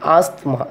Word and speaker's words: asthma: By spelling A-S-T-H-M-A, but we should not pronounce as a asthma. It is a asthma.